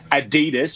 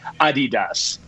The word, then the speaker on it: Adidas: Yeah, so it's incorrect to put all that emphasis on the middle part. So you don't say Adidas, you say Adidas. It's German.